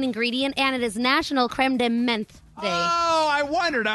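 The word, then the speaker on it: crème de menthe: Creme de menthe.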